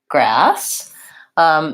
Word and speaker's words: grass: to pronounce the word grass so the SS tells me it's going to be an S sound instead of a Z sound and the vowel in grass is vowel ah which is the black